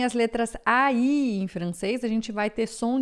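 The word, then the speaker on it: français: Eh, nacionalidades que você vê que terminam em A e S, vai ser sempre e japonês, francê, holandê e assim por diante, certo?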